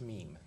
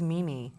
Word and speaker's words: meme: goodness youna do okay my daughter disc corrected me it's meme I thought it was Mimi is it Mimi it's not